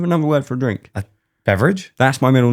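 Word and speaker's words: Beveridge: It's spelled IDGE at the end. Well, it's actually a Beverage. Scottish last name. It was my Pronounced the same way.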